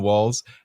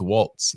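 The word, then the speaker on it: Walz: selected Minnesota Governor Tim Walls as her running mate not to be confused with Waltz it is a silent t and a for the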